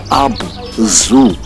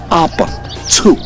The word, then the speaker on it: Abzu: the world as the Abzu. And the truth, the right pronunciation is not Abzu as in animal zoo. No, it's Abzu. They pronounced the ZU as Tsu.